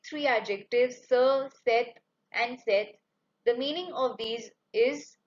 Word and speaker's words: cette: Then next, the feminine singular demonstrative adjective is cette.